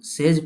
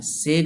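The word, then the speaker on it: sage: हम लोग इसमें ध्यान रखेंगे, इसको हम लोग सेज पढ़ेंगे, सेग नहीं पढ़ेंगे।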